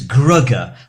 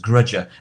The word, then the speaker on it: Grugger: Another Doctor Who name is Grugger. Uh, which was the part played by Bill Fraser, but everybody everybody mispronounced the name as as Grudger.